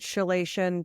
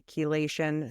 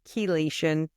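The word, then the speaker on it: chelation: have any questions K I was saying it chilation but I was pronouncing it wrong it's actually kation so that's the metal cleanse that I was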